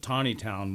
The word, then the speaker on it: Taneytown: in in pennsylvania called he calls it taneytown on the album but we pronounced it tawny town when i grew up where when i was